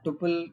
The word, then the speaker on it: tuple: also touched upon tle it is pronounced as tle or Tuple you know there are different ways but you are free to use anyone of them but I like tle